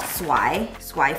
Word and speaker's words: swai: I think it's called swai filet.